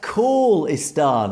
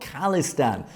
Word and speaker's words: Khalistan: this is the I finally found it it's pronounced kistan like phone call not kistan no disrespect it's all love appreciate the good